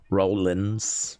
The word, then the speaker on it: Rollins: But I thought Roland's was spelled with a G. No. Rollins. Keep Rollins. Rollins. Rollins.